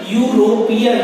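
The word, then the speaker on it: European: लेकिन यहाँ पर प्रोनाउंसिएशन यूरोपियन, यू निकल रहा है, इसलिए यहाँ पर क्या आएगा, ए आएगा।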